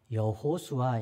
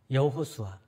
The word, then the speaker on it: 여호수아: 당시에 매우 흔한 이름이었습니다 물론이 예수는 헬라식 발음이에요 그리스식 발음입니다 히브리식 발음은 여호수아 있니다 여호수아 그래서 여호수아 요셉의 아들